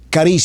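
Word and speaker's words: χάρις: de dos palabras griegas la primera caris se escribe charis gracias charis esta palabra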